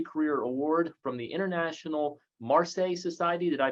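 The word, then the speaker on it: Marcé: Winner of several awards as well, including the Early Career Award from the International Marseille Society. Did I pronounce that right? Yes. You did. Marseille Society for Perinatal Mental Health and several other awards.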